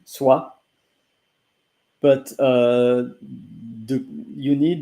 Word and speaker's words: soie: so s o i s o i e is pronounced the same SWA but uh the you